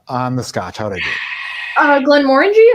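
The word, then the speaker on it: Glenmorangie: on the scotch uh Glenn Warren G I think you said it right yes just don't say Glenn moranji and you're good I didn't I didn't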